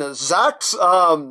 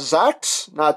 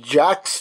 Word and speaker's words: Zax: I've heard Japanese reviewers pronounce it as Zax. I originally thought it was going to be like G-Con Jax, you know, because we're